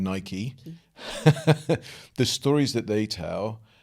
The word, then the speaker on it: Nike: will will tell or for those people that said I've pronounced it wrong Nike the stories that they